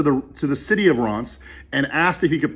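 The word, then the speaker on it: Reims: historic town called ross it's about like reams but it's pronounced ron's and it's an hour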